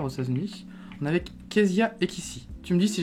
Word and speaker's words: Kéziah: On est avec Kezia Ekissi. Tu me dis si j'ai bien prononcé ton prénom.